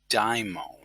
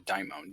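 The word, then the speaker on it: daimon: is a diamond and it's very important to keep that pronunciation Diamond because some people might slide into the pronunciation of demon but a demon is definitely not the same thing as a dymone demons you know with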